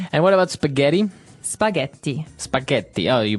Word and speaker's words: spaghetti: hear it differently and what about spaghetti spaghetti spaghetti oh you pronounce the double te as well that's right